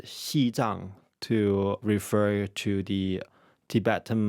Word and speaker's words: Xizang: In recent years, China started using the Mandarin pronunciation of Tibet, Xizang, to refer to the